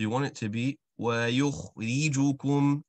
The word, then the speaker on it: وَيُخْرِجُكُمْ: أعوذ بالله من الشيطان الرجيم ثم يعيدكم فيها ويخرجكم إخراجا. Very good. So you did a very nice job there with the letter kha, ensuring that you got that scratch.